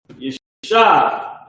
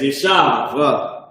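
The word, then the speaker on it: יָשַׁב: One says translation, Yeshab. That's how you say it. Well, this is the translation. This is supposed to be how you say it. But the pronunciation says Yeshav, Yeshav, which is wrong.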